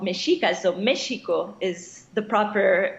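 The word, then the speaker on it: México: so they would they were called Masika so michigo is the proper pronunciation for Mexico and magical because Mexico is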